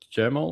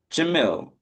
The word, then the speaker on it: Jamil: So Hey, just to get it right, is it Jamil or Jamal or how do I pronounce it? yes. Jamil.